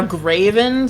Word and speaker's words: Graven: Okay, now Graven, spelled like Gray and then V-E-N. Gray, V-E-N, Graven.